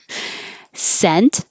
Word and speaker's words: scent: Scent, scent, scent. All the same. The vowel is like head.